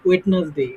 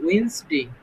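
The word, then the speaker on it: Wednesday: ওয়েডনেসডে, মানে ডি এর মাইরে আমরা টি এর এখানে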